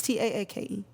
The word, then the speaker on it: Taake: Yeah, it's Taake. Yeah, it's like take.